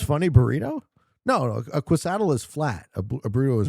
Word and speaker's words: quesadilla: Totally Lucky says Quesadilla is pronounced Quesadilla.